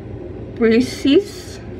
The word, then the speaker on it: Briseis: Briseis. B-R-I-S-E-I-S. So, like, if somebody can, like, phonetically, like how you'd see in, like, in